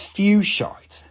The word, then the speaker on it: fuchsite: i'm saying it wrong it's spelled like foxite without decay it's fuchsite fuchsia no no no it's